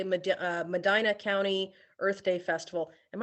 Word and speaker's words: Medina: uh Shelly dropping in the chat to say Medina County Earth Day Festival am I pronouncing that correctly it is Medina okay thank you I'm getting a couple nods